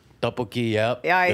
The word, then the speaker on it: tteokbokki: Tteokbokki. Tteokbokki, yep.